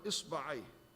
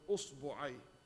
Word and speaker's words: إصبع: Actually, there is 18 ways to pronounce the word إصبع. The Arab pronounced the word إصبع in 18 different ways. 28 من لغات أتت لنا. There's 18 ways been recorded from the Arab how they pronounce the word إصبع, أصبع, إصبع, أصبع, بتثليث الأوائل كلها. مرة with هم, with فتحة, كسرة, ضم.